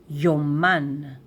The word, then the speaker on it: יוֹמָן: And in plural diaries and in Hebrew we say yman.